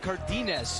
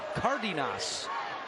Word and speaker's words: Cardenas: And we do want to point out that Cardenas is the way that he's been saying his name all year, but before the game he told us that the right way to say his name is Cardenas.